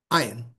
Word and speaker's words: ayin: So this Y-looking letter also has no sound. It's a silent letter. These 3 dots down here is egg, like, a bunch of eggs. Eh. Not A, eh. There's also an A, but it's eh. So, ayin, no sound.